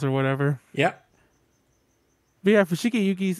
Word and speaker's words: Fushigi Yugi: So is Fugoshigi? Fushigi Yugi. Fushigi Yugi. Fushigi Yugi. I apologize for mispronouncing that as well as mispronouncing that.